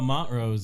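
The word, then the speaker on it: Montrose: the corner how do you how do you pronounce it Josh well Mont Rose if you're like if you're an old like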